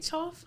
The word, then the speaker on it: Choff: Choff.